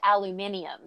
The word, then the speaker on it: aluminium: How they pronounce aluminum. They pronounce it aluminium.